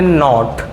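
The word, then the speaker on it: naught: left side नॉट difficult किताबों में आपको इसको एक साइलेंट जीरो भी कहा जाता है लेकिन आप स्टैंड उस अगर आप पढ़ते हो ऐसी वर्मा हरीश चंद वर्मा की दुल्हनिया है तो वहां पर आपको इसको नोट कहा जाएगा अब जीरो मत बोलिएगा इसको इसको क्या बोलेंगे एप्स साइलेंट नोट कहेंगे ना कि 10 ओके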